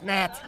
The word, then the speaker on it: gnat: It's a G. Silent. It's Nat.